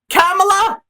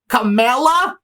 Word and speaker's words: Kamala: KAMALA?